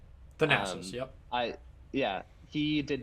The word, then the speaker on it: Thanasis: Thanasis. Thanasis, yep.